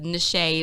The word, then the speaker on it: Nashay: It's spelled like niche, but the Nashay is for finesse.